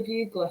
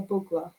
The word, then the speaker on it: Bugler: behind your name now i called you bugler for the first few months when we met and then i realized to my horror that that wasn't the correct pronunciation in your bugla this was before i'd